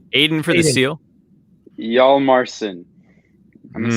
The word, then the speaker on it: Hjalmarsson: All right, I give half credit to the both of them, but the last name is actually pronounced Hjalmarsson.